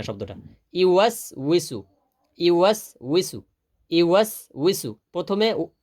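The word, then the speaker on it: يُوَسْوِسُ: অনেকে আছে তো ইউয়াস উইসুর জায়গা পড়ে বিসু বিসু। হ্যাঁ, বিসু বিসু তো কোনো শব্দ নাই। অনেকে আবার পরে ইউয়াস উইসু টান দেয় না, ইউ। আবার অনেকে ইউয়াস উইসু, না, ইউ করে টান দেওয়ার সুযোগ নেই।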